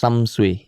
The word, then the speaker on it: Samsui: Oh and it's pronounced Samsu.